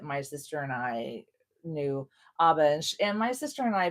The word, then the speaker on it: ABBA: we were like putting ABBA. I've always pronounced it ABBA. I'm going to call it ABBA. And I know it's ABBA. And I know that they even pronounce it themselves, the band ABBA.